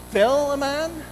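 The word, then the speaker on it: Philemon: so finally Minh lehman fill a man if you look at the Greek it's almost like filet mignon filet mom actually however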